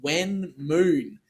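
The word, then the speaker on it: Wen Moon: There's also another one on GitHub called When Moon. It's spelled W-E-N, Moon.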